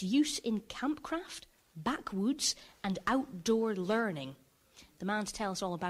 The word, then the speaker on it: backwoods: Camping, cooking, you're doing campcraft, backwoods and outdoor learning. I think I pronounced that wrong, or I called it back room. No, it's backwoods.